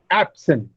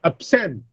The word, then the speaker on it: absent: For example, absent, if I use it as a noun, then it should be absent. That is, the stress is on the first syllable, absent. And if I use it as a verb, then it will be absent.